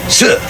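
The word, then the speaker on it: 四: on account it's pronounced S which sounds like the Chinese word for death s the garbage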